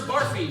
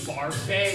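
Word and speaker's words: Barfée: Barfy. Barfay.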